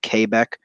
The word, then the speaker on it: Quebec: it's qua like kW is how you're not kbecque is how that's supposed to be pronounced otherwise everything is fairly straightforward on the